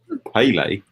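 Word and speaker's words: Pelé: How do you pronounce it? Pele.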